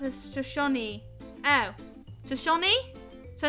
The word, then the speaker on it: Shoshone: And Shoshone is pronounced as Shoshone.